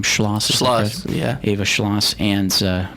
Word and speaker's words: Schloss: Schloss.